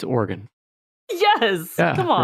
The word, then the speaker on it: Oregon: Colorado, you know, it's like Oregon, Oregon, right? Those people can right off. It's Oregon.